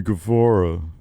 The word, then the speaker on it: Guevara: of beef after uh Sammy Guevara sorry Sammy gavora after Andrade sent an